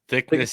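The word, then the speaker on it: Thicknesse: Thickness is the correct Okay, pronunciation.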